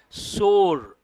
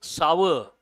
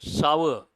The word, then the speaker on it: sour: A lot of people say sore. But how do you pronounce this? Sour. Please make a note. Sour.